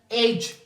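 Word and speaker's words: age: है फिर से साइलेंट एज एज जो हम लोग कहते हैं उम्र what's your एज हाउ ओल्ड आर यू एज यहां प फिर से ई क्या है हमारे पास साइलेंट ब्रेथ हेट नफरत करना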